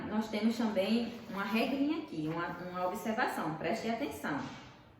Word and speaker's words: aqui: Aí tem um exemplo aqui. Por exemplo, a palavra guerra. Guerra. Foi pronunciado o U do guerra?